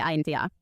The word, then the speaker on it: Anta: Acho que se pronuncia ANTA. É ANTA.